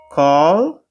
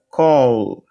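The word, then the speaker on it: כל: Kal, na verdade aqui se comporta como O, né? Embora tenha esse sinalzinho maçorético aqui de A, mas tem 3 sílabas, né? 3 letras. Então, para não ficar aberta, esse sinal maçorético aqui, olha, ele vai estar funcionando como O. Então, aqui seria Kol, que significa totalidade.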